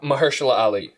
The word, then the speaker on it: Mahershala Ali: it's a hard name to pronounce it's like maharasali ali or something or ma mustard i don't know how to pronounce it i like the other dude ali oh mahershala ali that's the name marshall ali um i'll show